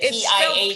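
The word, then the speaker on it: Piotre: Is it P-I-A-T? Piatre. It's spelled P-I-O-T-R-E, Piatre. Oh. But it was pronounced Piat.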